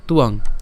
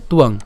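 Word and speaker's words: ত্বাং: সুবিধার জন্য আমি এভাবে লিখে দিতে পারি আপনাদের তুয়াং এটা উচ্চারণ করেন তাহলে আশা করি আপনারা পারবেন তুয়াং ঠিক আছে তুয়াং এরপর মহারথা এরপর ইয়ে সাং চ এটাও সেম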